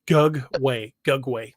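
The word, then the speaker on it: Gugwe: Ivy also says, how do you say Gugway? It just Gugway. Instead of an E on the end, think of it as an AY. It just Gugway, basically.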